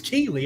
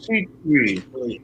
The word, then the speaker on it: Kuechly: think I Steve thought it was Keeley. I've been pronouncing his name Luke Keeley. It's Keith. Luke Kuechly.